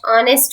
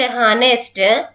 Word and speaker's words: honest: She is dash honest woman. Here the word honest H is silent. It is giving vowel sound. That's why we use article an. She is an honest woman.